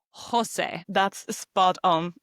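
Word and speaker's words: José: And we now know that every time we see the letter J in Spanish, we pronounce it like the H in English. You say Jose.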